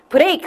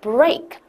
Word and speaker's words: break: 입 조그맣게. 그죠? 혀 이렇게 살짝 말리면서 혀 끝에가 입 안에 아무데도 안 닿고 해서 break 하시면 안 되고 break.